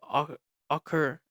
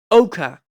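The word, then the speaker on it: Ouka: The two members said they can almost keep up with Ocker. Ocker, not Otter. Ok- I can't pronounce his name fucking correctly. Oka.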